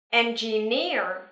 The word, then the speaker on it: engineer: Engineer. Trọng âm giờ vào âm tiết thứ ba nha.